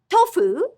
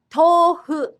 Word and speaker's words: tofu: For example, tofu is a food word that traveled from China to Japan and has a long O. Instead of tofu, it's tofu. Tofu.